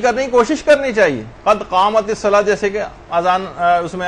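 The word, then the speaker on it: قد قامت الصلاة: اس کو صحیح کرنے کی کوشش کرنی چاہیے، قد قامت الصلاۃ، جیسے کہ اذان اس میں اقامت میں بھی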